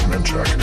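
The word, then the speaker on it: Manchaca: The post office said place was spelled manjack which is how mana is pronounced locally.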